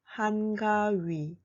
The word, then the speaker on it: 한가위: Personally, I prefer to call the day 한가위, 한가위.